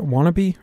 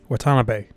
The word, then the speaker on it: Watanabe: Is that how you pronounce that? Wannabe? Or Watanabe? Watanabe.